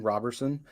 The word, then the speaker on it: Roberson: well sure yeah my name is Roberson each one of those words is spelled a little differently than people would expect